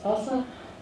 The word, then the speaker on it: SLSA: There's also existing security frameworks that are good to follow such as SLSA or it's pronounced TASA um that provides you